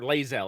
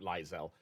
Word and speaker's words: Lae'zel: get back to or lazel I guess is technically how you pronounce it not liel but uh uh he's